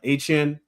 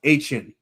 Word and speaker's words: Etienne: He says that it's pronounced Etienne. With the Haitian roots. It's what? It's now what? It's Travis. It's pronounced Etienne. Etienne, like Etienne with the Dolphins.